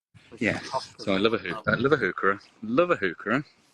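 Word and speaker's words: Heuchera: I heard someone pronounce hookerah as hoochera. Oh. Hoochera. Yeah. And I'd never heard that before. I've heard hoochera. I think they were trying to pronounce it as like a French. Probably is French.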